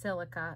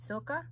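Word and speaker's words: Sylca: um however this brand i think it says silke or it's pronounced silica no there's not an i there so it's s-y-l-c-a silca and it's got this tortoise shell choker chain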